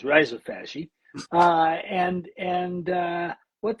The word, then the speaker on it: rhizophagy: made in Australia where they called it Rizophagi, but the right way to say it is risopy.